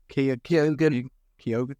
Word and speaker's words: Keoghan: Well, how do you pronounce his name? Keoghan.